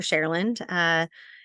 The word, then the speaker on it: Cherland: Cherland. You might know the singer named Cher. I live in her land. That might give you a good idea as to how to pronounce my name, but it's truly fine